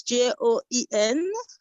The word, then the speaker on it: Joen: It's like Joel, but it doesn't have the L. It's Joen.